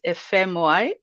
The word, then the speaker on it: Efemuai: my marital name is fmy f so i usually teach people to pronounce it f the letters f m y you know so i'm